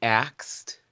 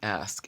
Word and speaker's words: ask: of it is said the they axed I believe I pronounced it like a Tex Edie and I remember my mother saying ask and I just had to practice it over and over ask ask so even till this